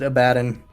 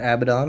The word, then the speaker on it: Abaddon: ton for Mentor well you just have to pronounce it abaddin abaddin it's not Abaddon it's a badon object my caffeine naps